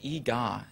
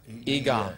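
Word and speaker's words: Eegah: Well, one of them is called E-Ga. It's spelled E-E-G-A-H exclamation point. Yeah. E-Ga, yeah.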